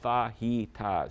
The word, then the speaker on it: fajitas: It was called fajitas. Yeah. This is how you pronounce fajitas, right?